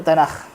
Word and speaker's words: Tanakh: hujung seali Kaf Kaf cuma Kaf di hujung Ibrani sebut Kha dia ya Tanak lah tapi disebabkan dia di hujung orang bahasa hebrew sebut Tanak jadi gitu kan jadi disbut tanakh tapi ejaan asalnya Kaf